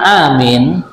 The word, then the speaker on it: amin: Jadi tertibnya mengucapkan amin, a ini dipanjangkan 2 harokat, kemudian min boleh 2 harokat, boleh 4 harokat, sampai boleh 6 harokat.